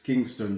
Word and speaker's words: Kynston: visit us also over and instagram and it's kingston jerk and kingston drake is spelled k-y-n-s-t-o-n-j-e-r-k so it's kingston drug so stick